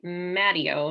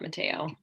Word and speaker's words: Matteo: So I see Robert, I mispronounced your name last time, Matteo, not Mateo.